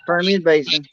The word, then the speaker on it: Permian Basin: Now tell me how to pronounce this. I'm doing good. You said it right. It's Permian Basin.